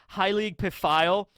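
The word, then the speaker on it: Heilig Pfeil: So we finally get the pronunciation on how that's said, Heilig Pafio. That is pretty close to the way I always said it.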